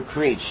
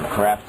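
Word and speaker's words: Kreeft: on him and Peter creeps works on them the Catholic philosopher creep or crep I've heard it pronounced both ways um but even even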